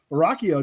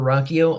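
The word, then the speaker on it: Ruocchio: Christopher Rocchio. Did I pronounce it right this time? You got it, man. Yeah, I'm Christopher Rocchio.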